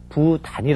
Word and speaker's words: 부단히: 없지 못한거 그리고 끌림이 없는 걸 분란이 아니라 부단히 라고 한다는 거 꼭 기억하시기 바랍니다 다음 한자